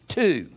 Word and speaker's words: two: 2 is a noun, a native English word descended from the Indo-European dwo, D-W-O, of the same meaning, although the W is no longer pronounced in the basic English word.